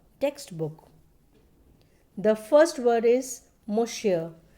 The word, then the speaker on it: monsieur: The first word is monsieur. It's a French word which means Mr. The pronunciation is given down. You can see here M-U-H-S-Y-U-H. It means monsieur.